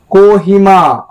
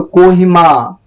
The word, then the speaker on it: Kohima: कोहिमा, को यानी ओ, यहाँ पर थोड़ा सा ओ है, सिर्फ अ नहीं है, ओ है, यानी कि ओ, को, ओ, इस तरह से।